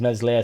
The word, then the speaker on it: Meslier: obviously the header was his meslier silent S I didn't put silent s but I'm sure everybody read between the lines his meslier the worst Keeper in